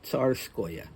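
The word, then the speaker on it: Tsarskoye: that OE, you should insert a Y between the O and the E to give it the proper phonetic spelling. So you see that O and E, and you know it's going to be pronounced Oya, Neskuchnoya, Ilinskoya, Tsarskoya.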